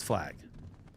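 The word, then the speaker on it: Flagg: Did I say his name wrong? It's Flag.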